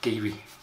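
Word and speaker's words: Garioch: a r i or c h which actually pronounced gaby we did a distillery tour there a few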